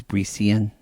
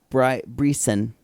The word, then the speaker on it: Bricen: So his name's Brician? No, Bryson.